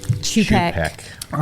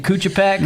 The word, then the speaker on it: Chupek: How do you say your last name? Chupek. Okay, that's There we go. What was the... well. Chupek, Chupek. I think I always started saying Kuchapek.